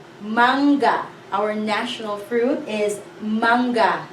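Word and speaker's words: mangga: The sound is So in the first syllable, we have an NG. It says manga. Manga.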